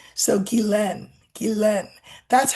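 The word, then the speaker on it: Ghislaine: And then the the last part is pronounced len like lend but without the d. So gilen.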